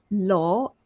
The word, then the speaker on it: law: So follow along, O and O. So low, LOW, low, and law, LAW, low, law. Let's take a look at another pair of words.